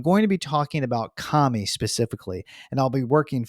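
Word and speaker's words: 神: Chinese or onomi readings we can pronounce this Ki as Jin or Shin with the kunyomi or Japanese reading being of course Kami now this Japanese word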